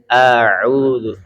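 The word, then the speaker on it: أعوذ: dengan huruf Ain ya yang betul adalah bacanya auu a dulu Hamzah dulu baru huruf Ain ya I kalau nanti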